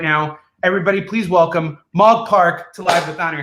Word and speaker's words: Mog Park: all about it right now everybody please welcome mog park to live with honor how you doing mom